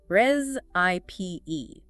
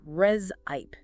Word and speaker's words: recipe: Emphasizing that final long e sound. Reip, not recipe or resip.